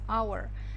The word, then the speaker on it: hour: Запомните, что слово час – hour – произносится без H. То есть H – он здесь silent letter. Silent – то есть молчаливая буква, silent letter, поэтому мы говорим in an hour.